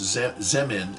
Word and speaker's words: Zemin: The previous leader of China, pretty sure his name is pronounced Zemin, Z-E-M-I-N.